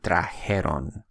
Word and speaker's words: trajeron: Same thing with traer. Notice that I said trajeron, and I did not say trajeron, which is a very common mistake that people do. Once again, the correct proper pronunciation is supposed to be trajeron.